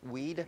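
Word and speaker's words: Weide: yeah and Robert B how do you say his last name wide weed yes rby weed who's like an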